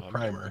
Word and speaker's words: primer: Primer is pronounced with a long I sound, like minor or buyer.